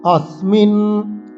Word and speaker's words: अस्मिन्: যোদ্ধব্যম अस्मिन्, স্মিন, এই যে স আছে সহ, এইসব শব্দগুলোতে আমরা স দাঁতে লাগিয়ে সকে উচ্চারণ করব।